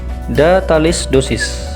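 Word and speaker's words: da tales doses: Kemudian cara pengucapannya adalah datalis dosis, di mana artinya itu berikan dengan takaran sebanyak itu.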